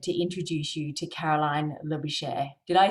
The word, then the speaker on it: Labouchere: Today, I am so delighted to introduce you to Caroline Labouchere. Did I say it right, your surname, Caroline? You did Labouchere like chair. It's actually Labouchere.